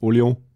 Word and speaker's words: Orléans: It's like the old Orleans, but in France it's pronounced Orléans, and it's in sort of western France.